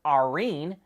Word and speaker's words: Arene: Toyota calls its operating system Arene, which is spelled A-R-E-N-E.